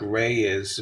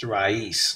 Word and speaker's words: Raiz: People say it like Ray is, but it's in Spanish, it would be pronounced raíz, like a root.